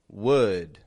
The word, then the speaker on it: would: It's not a would, but a would. Would. Here's the great thing about the word would. It can be a W-O-O-D or W-O-U-L-D. Both come out sounding the same.